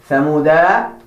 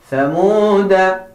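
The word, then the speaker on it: ثمودا: You have to make sure that you do not pronounce the alif that has the circle. Make sure that you make note of that. You do not say ثمود, but ثمود.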